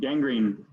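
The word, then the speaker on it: gangrene: six number six I can any of you pronounce this one William G green yep Gang Green yep Gang Green some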